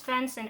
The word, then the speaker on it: Svenson: God that was terrible it's fence and s-v-e-n-s-o-n I'm that's more like the German pronunciation I guess or the Swedish I think who plays Axel Olson